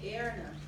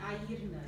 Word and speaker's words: Erna: Irish people would say Erna, but it's in Portuguese we say Airna. Just want you to think of your eye, your ear, na.